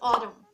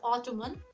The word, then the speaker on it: autumn: of english words the first word is autumn in this word the end comes at the end of the word we don't need to say it as ottoman or anything something like that it'll be okay